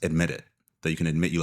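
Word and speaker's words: EDMIT IT: And so I made a brand and it It was spelled EDMIT space IT, and it's pronounced admit it.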